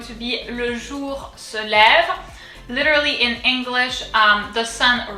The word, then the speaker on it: lève: Le jour, ce, and then lève. So here it's fairly easy. We've already seen this accent. It's called the accent grave and it's pronounced E, lève.